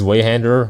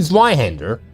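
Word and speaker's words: Zweihänder: Faust handles Zweihander one-handed, so Faust is strong, Kappa? To be fair, that's very dumb. Fuck you mean she's a Zweihander, fucking one-hander? It's a fucking Zweihander.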